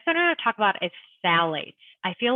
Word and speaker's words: phthalates: And that one is spelled, I'm saying phthalates, but it's spelled PHTH. ALATES. So phthalates, it's like the PH is silent.